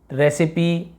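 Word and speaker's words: recipe: तो आपने यहाँ पे देखा कि हमने यहाँ पे क्या किया, इसका उच्चारण, यहाँ पे ई का उच्चारण हो रहा है, फिनाली, रेसिपी और सिमिली।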